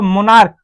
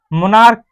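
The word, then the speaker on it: monarch: तो इसको आप अगर प्रोनाउंसिएशन करेंगे तो क्या होगा, मोनार्क, मोनार्क, स्टोमक, तो इस सीएच की मीनिंग जो आ रही है क आ रही है क, तो इसमें केवल आप यस लगाकर इसको प्लूरल बनाएंगे।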